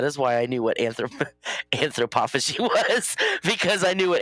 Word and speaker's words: anthropophagy: I am Anthropophagy. Anthropophagy.